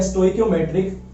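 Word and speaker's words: stoichiometric: सो आप देख सकते हो गूगल पे, वहां पर आपको इसकी एक्चुअल प्रोनाउंसिएशन पता लग जाएगी, जो कि है स्टोइकियोमेट्रिक डिफेक्ट।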